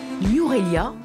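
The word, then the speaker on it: Nuwara Eliya: une baignade impromptue enfin une aurélia c'est comme ça qu'on prononce s'offrent dans son écrin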